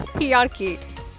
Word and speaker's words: hierarchy: Just break down the word into sounds like higher and archy.